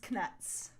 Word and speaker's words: Knuts: with right um these knuts yes and I like to pronounce the k because that's what Jim Dale does and also because it differentiates Canucks from actual nuts yes exactly yeah it